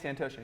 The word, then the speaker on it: Santosha: So we're Santosha. Saying it right? Yeah, Santosha, yeah.